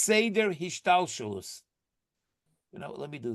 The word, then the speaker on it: hishtalshelus: So there is in Hebrew, the word is hish tal shelus. Let me tell you how it's spelled if you want to write it down. HISHTAL SHELUS.